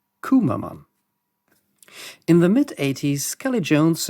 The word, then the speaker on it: Cwmaman: This is a village in Wales, spelled like this, but pronounced something like Cwmaman.